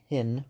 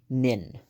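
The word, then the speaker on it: Pnin: so yeah we have pin I'm sorry nin that silent P um nin by Vladimir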